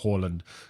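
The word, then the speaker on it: Haaland: berlin holland for instance holland as you're meant to pronounce it supposedly so how horland has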